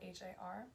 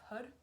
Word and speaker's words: Har: It looks like it's spelled H-A-R, so it looks like it's har, but it's pronounced HUD, more like H-U-D.